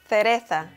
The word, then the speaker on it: cereza: Cerveza, cerveza, cereza, cereza. So when you pronounce words that have C or Z, you have to not put too much emphasis on that.